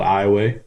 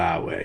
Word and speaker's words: Iowa: in Southwest Louisiana in a little town called iway uh it's spelled IO wa it's a lot of big